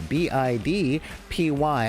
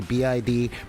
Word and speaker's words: BidP: It's BidP spelled phonetically, Bidpy. I know actual phonetically would be Bidpee, but I didn't want our name to be associated with other things that people would look for on the internet.